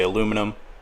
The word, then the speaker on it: aluminum: agree with me because in canada we say aluminum much like the americans do and while there